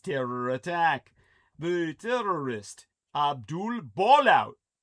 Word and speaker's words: Ballout: The terrorist Abdul Ballout. If I my last name, my family name were ball out. And it's spelled just the way it sounds.